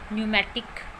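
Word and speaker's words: pneumatic: Next है word जब पी एन से शुरू होता है, पी एन से शुरू होने वाले वर्ड में भी पी साइलेंट रहता है। For example न्यूमेटिक, न्यूमोनिया।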